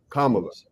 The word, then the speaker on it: Kamala: You have to put the emphasis on the first A. So just remember that. Sometimes I got to talk to myself. Emphasis on the first A. Kamala.